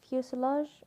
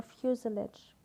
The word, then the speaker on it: fuselage: what is the fuselage it could be pronounced fuselage or fuselage fuselage refusal edge anyhow